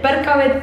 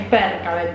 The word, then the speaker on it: Percabeth: y cómo pronuncian ustedes, Perkavet o Persavet. Es Perkavet, chicos, no, basta, cerremos la discusión porque además ellos en las entrevistas dicen Perkavet, ya está. Si Rick dice Perkavet es porque es Perkavet, no jodan más.